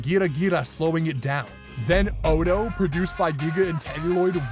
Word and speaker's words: Ado: Then Odo, produced by Giga and Telluloid, ramps the energy Otto's capable of to 11.